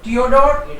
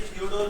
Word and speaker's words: Theodor: सर ये थियोडोर नहीं है, थियोडोर है। बेटर है थियोडोर बोले तो। एक साइलेंट है। यस, एक साइलेंट रहता है। कई लोग इसको था भी बोलते हैं, जैसे ग्योथे, ग्योथे बोलते हैं, ग्योटे भी बोलते हैं लोग, right? But which is the better, right? Right, so silent is better, Silent is better.